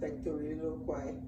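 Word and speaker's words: pectoriloquy: Yeah, but it's pronounced pectoriloloquy.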